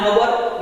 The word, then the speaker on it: hour: Just like here, an hour, it begins with consonant sound but pronunciation, it is just like vowel sound.